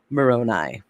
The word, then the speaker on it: Moroni: angel moroni and also no it's pronounced moroni so he did that